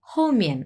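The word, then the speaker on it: 后面: হচ্ছে হমি বিকজ এটা দুটাই হচ্ছে চার নাম্বার টন দেখেন এটাও চার নাম্বার এটাও উচ্চারণ হোমিন একটু তাড়াতাড়ি উচ্চারণ হবে হমিয়ান হ্যা হমিয়ান এরকম এর মানে হচ্ছে ব্যাক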